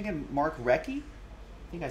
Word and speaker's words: Recchi: What was his pronunciation again? Mark Recchi? I think I said Rishi before.